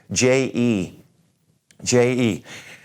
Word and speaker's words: je: use the e first of all this word je je this means I if I'm gonna say I